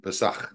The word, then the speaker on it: Pesach: That's what it means in Hebrew, or Pesach would probably be the proper way to pronounce it.